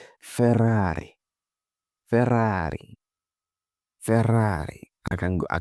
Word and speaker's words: Ferrari: This is what we call Ferrari. Ferrari SF90. Ferrari 2960TB. Ferrari super fast and so on. Ferrari. But that's not how Italians pronounce it. They say Ferrari.